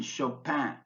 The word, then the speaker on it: Chopin: tricky spellings for examples the letters CH in Chopin are pronounced like an SH Chopin but the C in